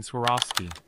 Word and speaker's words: Swarovski: Let's break down its pronunciation. Swar. Off. Ski. Repeat after me. Swar. Off. Ski. Excellent. You're accurately pronouncing Swarovski.